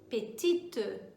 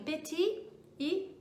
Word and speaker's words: petite: Se for no feminino, então acrescenta um E aí, petite. E marque esse E na sua pronúncia. Então, masculino, petit e petite, tá?